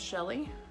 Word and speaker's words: Chelle: My name is Shelly.